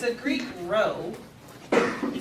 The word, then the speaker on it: rho: If you want to use the corresponding Greek letter that goes for the population, it's a Greek rho. You spell it R-H-O, rho.